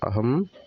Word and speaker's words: ohm: 5 ohm, ini bacanya 5 ohm ya.